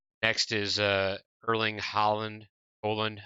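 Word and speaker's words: Haaland: Holland, I think it's Holland. How I think it was told to me pronounced.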